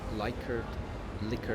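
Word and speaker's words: Likert: I realize that I'm pronouncing this incorrectly. It's not ly previous videos say Lyard. It's not like liquor. Sorry. Liquor scale.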